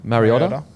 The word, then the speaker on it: Mariota: And then you've got Mariora. Is that how you say it? Mariota.